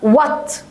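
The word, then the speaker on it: what: ما تلاقي الدبليو اتش انطقها يعني كان الاتش دي مش موجوده و ننطق وات اهي وات لان في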